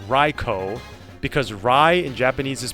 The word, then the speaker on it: Raikou: a lover of the cat Trio it is pronounced REO because Ry inp jaese is pronounced like our